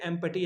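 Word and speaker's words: empty: मैंने शायद थ्री या फोर तक जो है इसे एम्पटी एमटी पढ़ना शुरू किया। बाद में आकर पता चला कि ये एम्पटी नहीं पी साइलेंट होता है। एम्प्टी होता है।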